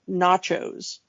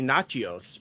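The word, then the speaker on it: Natchios: on chips they cannot they cannot decide how to pronounce that name is it nachos is it nachos is it you know like they have like three different pronunciations of that name I think it is supposed to because it's Greek so I think it is supposed to be naos but they yeah and foggy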